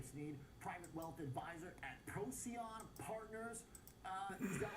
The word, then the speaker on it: Procyon: Jerry Sneed, private wealth advisor at Procyon Partners.